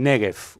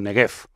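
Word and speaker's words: Negev: Ya por aquí tenemos lo que se llama el negf o negf de las dos formas se puede pronunciar el desierto del nef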